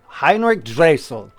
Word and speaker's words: Heinrich Dressel: Do we have the correct pronunciation? I don't of know. your- Dressel. Dressel. Heinrich Dressel.